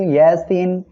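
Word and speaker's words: يس: হবে তাহলে আমরা এখানে পড়বো ইয়াসিন ইয়াসিন এটা হলো হরুফে মুকাত্তা যার অর্থ শুধুমাত্র মহান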